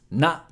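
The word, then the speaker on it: な: Na. Na is pronounced like na in nachos.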